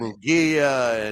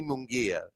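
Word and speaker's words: Munguía: And and I kept calling him Munguia and Jaime I would say Jaime and and Randy says, "Go ahead. Say it. You know the right way to say it." And I'm like, "I know how to say it now, you know."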